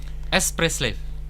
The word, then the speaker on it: Espresslave: Boleh bacanya apa yang benar nih? Express Slave.